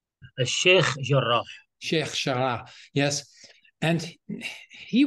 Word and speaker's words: Sheikh Jarrah: I don't know the pronunciation. Sheikh Jarrah.